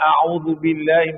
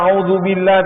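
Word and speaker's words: أعوذ بالله: bacaan al-istiazah istiazah mana auzubillahim minasyaitanirrajim ataupun bacaan taawuz ya kita kalau baca auzubillah tu jangan jadi Zai jangan auzubillah itu jadi Zai kita kena gunakan Zal auzubillahubillahim minasyaitan minas ya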